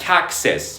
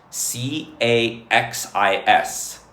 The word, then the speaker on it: Caxis: Yes, Caxis. Yes. It's spelt c a x i s Caxis.